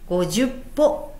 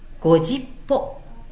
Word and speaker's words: 五十歩百歩: という意味です読み方は 10 個ではなく 50 包ですので間違えないように気をつけましょうこのようにご